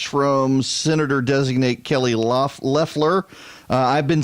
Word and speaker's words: Leffler: Senator designate Kelly luff Leffler I've been saying I'm gonna have to get out of this habit now I've been saying Lafleur but it is pronounced Leffler and she made her